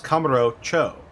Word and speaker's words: Kamurocho: when you realize that I think Cho means town or district. Mm-hmm. Or city, I think. And Kamuro is just the name of it. So it's Kamuro Cho.